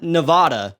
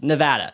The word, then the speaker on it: Nevada: which is what people outside of Nevada think Nevada is pronounced it's not Nevada it's Nevada okay so now we have all this leftover